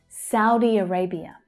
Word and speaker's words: Saudi Arabia: Saudi Arabia. So you have the stressed syllable in Arabia.